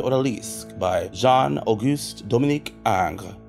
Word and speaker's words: Ingres: by Jean AUST Dominic Ang it's spelled Ingres so get into that